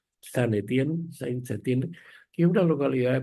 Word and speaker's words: Saint-Étienne: de minas de Saint-Étienne, más o menos se pronuncia así, Saint-Étienne, que es una localidad